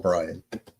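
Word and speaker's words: Brayan: Yeah, it's spelled weird though. It's spelled like Brian, but I still think he's called Brian.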